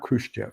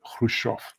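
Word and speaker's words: Khrushchev: And so most Americans pronounce the K and and not the H, whereas it's supposed to be actually you pronounce the H and not the K.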